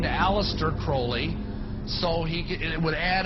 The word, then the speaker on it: Crowley: to have his name pronounced Crowley to rhyme with holy and uh the Satanist